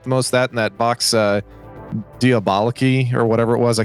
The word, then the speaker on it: Vox Diaboli: So that's Vox Diaboliki.